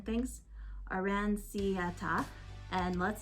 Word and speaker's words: Aranciata: Not to mention beloved soft drinks like lemon galosa and orange arancite. I'm very bad at pronouncing things. Aranciata, and let's not forget prosciutto.